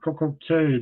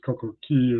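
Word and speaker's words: CocoCay: The next day, my last port of call was perfect day at Coco Key, or Coco Cay to some of you. Of course, Coco Key is the correct pronouncing.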